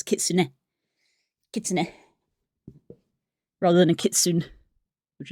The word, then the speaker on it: kitsune: you do that sort of sound, but no, they literally pronounce the kits because they do the N and the E. So, it's kitsune kits rather than a kitsune, which is how a